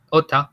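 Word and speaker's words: åtta: Otro que les puedo mencionar, por ejemplo, en sueco, la palabra ota, que significa 8, ¿sí? Que se escribe ata, con un circulito arriba de una A, es el 8, ¿verdad?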